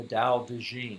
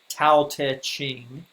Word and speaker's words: Dao De Jing: lao tzu wrote the dao de jing also known as the tao te ching in our textbook it's spelled the old way with the t tau taching but the